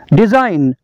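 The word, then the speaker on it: design: का जी साइलेंट है डिजाइन डिजाइन का मतलब है नमूना डिजाइन का जी साइलेंट है बीना बीना का मतलब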